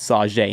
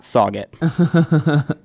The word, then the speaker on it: Sauget: if my stepdads listening its saw Jay not sauget yeah I've yet yet